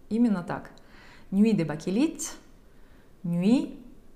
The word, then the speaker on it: Nuit: Nuit de Bakelite, Nuit, буква Т, не произносится.